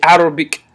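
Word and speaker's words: عربي: The Arab people are named after the Arabic language, or Arabi is how it's pronounced in Arabic.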